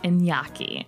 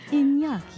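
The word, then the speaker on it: Iñaki: Because it's a Basque name, which is super cool.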